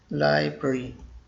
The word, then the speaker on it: library: learn the correct pronunciation library library the correct pronunciation is library live pretty library we went to the library to check out